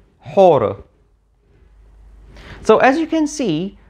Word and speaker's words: Horus: change over time so earlier in Egyptian history we know that it was pronounced something like Haru however after the reign of Ramses II we know that it was actually pronounced something like horror so as you can